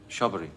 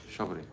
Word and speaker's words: Shabari: Shabari, yes, Shabari.